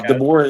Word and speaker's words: DeBoer: Yeah, DeBoer.